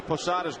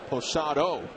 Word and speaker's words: Posada: Bob Shepard announced Jorge posada's name during the 1995 Division Series pada came in to pinch run for Wade bogs and in a rare Gaff Shepard pronounced Jorge's last name Posado instead of Posada and from that day